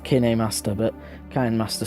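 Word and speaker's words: KineMaster: Even though now I'm trying to get better at my videos, but I'm sick of this Kind Master watermark, but in a way I like it because it's kind of a sponsor.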